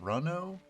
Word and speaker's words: Runo: there like that aruna runo you guys will tell me if i'm pronouncing it wrong or you know sounds cooler like the card game uno but with an r in front of it keep an eye out